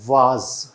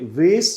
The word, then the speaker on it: vase: ये है वाज। वाज बोलते हैं इसे। हालांकि अमेरिकन प्रोनाउंसिएशन में इसे वेस भी बोल देते हैं, वेस भी बोल देते हैं, दोनों ही हैं।